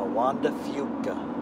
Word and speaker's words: Juan de Fuca: Spaniard so he's not Fuca god it's the Juan de Fuca one one yeah nobody says that here okay I mean Spanish pronunciation book today it's quite funny since it